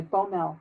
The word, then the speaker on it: Boumel: no from Matt Brehme well are in the Bommel oboe mal okay yeah and she's a contributor